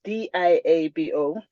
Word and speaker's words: Liabo: my name is Diablo it's spelled l-i-a-b-o but it's pronounced d-i-a-b-o um I'm from South